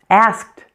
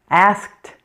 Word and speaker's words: asked: Asked. Asked. Here you hear something a little bit different. The ed ending sounds like a t. Sounds like t.